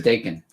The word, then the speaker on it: Dakin: I was making sure it was Dakin. Rhymes with bacon.